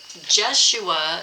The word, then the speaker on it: Jeshua: We were on the Jeshua, is how they say it.